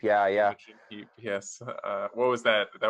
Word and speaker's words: Imogen Heap: music, where, who is it, Imogen Heap, or pronounce her name? Imogen Heap, yeah. Imogen Heap, yes.